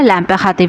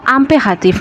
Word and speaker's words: l'impératif: আজকের পর্বে আমরা ল্যাম্পে হাতিফ শিখবো। কি দর্শক? ল্যাম্পে হাতিফ। আই এর উচ্চারণ কিন্তু এর মত হয়। এটা কিন্তু আমরা আগেও জেনেছিলাম। এটা কিন্তু আমপে হাতিফ না। হাতিফ। যেহেতু প্রথমে এল আছে অপোস্ট্রফ।